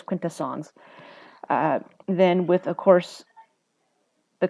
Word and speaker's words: Quintessons: started with the Contras quintessence right or I think it's eight quid two songs I've heard I've heard it pronounced two different ways I think it is Quinta songs then with of course